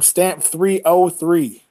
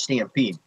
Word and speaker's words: Stamp3de: He pronounced my name Stamp303. 03. That's what I was saying. I was saying Stamp3de3. That's what I was saying. Because the way you spell it. The way it looks, it's completely understandable. You know, you change the E's to a 3, so it's Stampede.